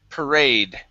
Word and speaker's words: parade: up we have parade the stress is at the end of the word parade parade parade all right